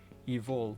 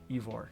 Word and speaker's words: Ivor: How to pronounce Ivor, evil, but not Ivor.